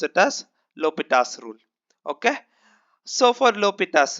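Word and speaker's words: L'Hôpital: L'Hopital's rule or L'Hospital's rule. Okay, it depends on the different people pronounce it in different way. So I pronounce it as L'Hopital's rule.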